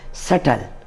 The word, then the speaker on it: subtle: sum fourth word is s u p t l e subtle this is not subtle we should silent b also here and we should call this subtle subtle fifth word is c